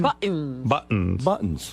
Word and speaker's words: buttons: Buttons. Buttons, mugs, pencils. What is he saying? Why doesn't that sound right? It's buttons. T. You got to say a T.